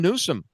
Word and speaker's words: Newsom: I like I like I like Newsome running because his name rhymes with gruesome and it makes it really easy to write limmericks about him.